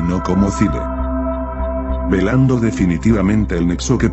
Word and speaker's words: Thule: Esto es porque en griego antiguo el nombre de Thule, que se escribe Thule, se pronuncia Thile.